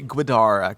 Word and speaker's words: Guidara: it's pronounced so okay it's will gu u i d a r it feel like it be guidara Guida will Gara will